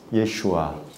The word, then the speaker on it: 예슈아: 이름은 그 이름이 뭐예요 예슈아 예수님의 그 본토 히브리식 발음 예슈아 예아라 그 이름을 믿는